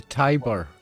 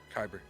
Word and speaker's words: kyber: it's a very living creature was it the Tyber Crystal kyber yes kyber how do you spell that oh kyber Crystal uh uh I think